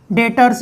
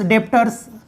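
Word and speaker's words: debtors: डेटर्स, डेप्टर्स दोनों इसके pronunciation चलते हैं।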